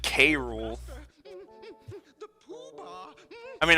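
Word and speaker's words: K. Rool: Because I always said K-Rule. The poobah. I mean, I guess Karul makes sense, because cruel, but...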